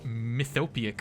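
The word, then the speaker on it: mythopoeic: I think that's pronounced mythopic forces.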